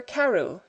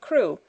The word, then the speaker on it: Crewe: Madame Pascal pronounced it as if it were Karu instead of crew, but that might be merely a matter of pronunciation.